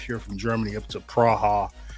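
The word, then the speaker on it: Praha: We had went up took a little six-hour drive here from Germany up to Praa Czech or Prague as the Americans tend to call it, but it's Praa as it's properly pronounced.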